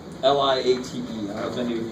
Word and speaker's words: LIATE: There's something called, it sounds like a Starbucks drink. It's called, it looks like it's pronounced Liate. Liate.